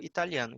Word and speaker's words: Italian: Eu sou italiano. Então, percebam que Italy, a sílaba tônica é no I, Italy, e I am Italian. Então, a sílaba tônica é no TA, Italian.